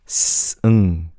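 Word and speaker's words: 승: So the right way to cut this English word is actually S and E-U-N-G. Do you guys see where I'm coming from? So you pronounce the S, and then you say Seung.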